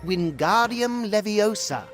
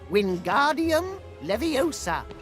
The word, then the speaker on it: Wingardium Leviosa: fly its incantation is wingardium leviosa just like this Wingardium Leviosa pay attention to your pronunciation it's Wingardium Leviosa remember make the gar nice and long also the wrist